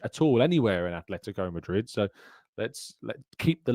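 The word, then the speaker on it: Atlético: I've just got this thing about Atletico Madrid, people calling it ATH. There's no H. There's no H at all anywhere in Atletico Madrid.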